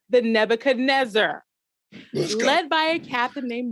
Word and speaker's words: Nebuchadnezzar: he has risked everything you have pronounced sir two things slightly wrong it's the nebuchadnezzar and it's zion zion